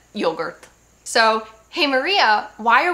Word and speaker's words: yogurt: is said come yogurt it's said like English but with an Italian accent yogurt.